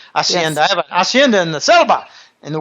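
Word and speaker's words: hacienda: they call Henda acendas H is silent Spanish asend I have asenda in the CBA in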